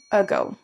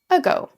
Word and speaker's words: ago: utiliser le petit mot ago. Ago. Notez déjà la prononciation. On n' pas un a ou je ne sais quoi. On prononce quasiment la première syllabe quasiment comme un e.